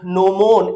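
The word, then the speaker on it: gnomon: और अह आपने नो मोन इसको जी साइलेंट रहेगा।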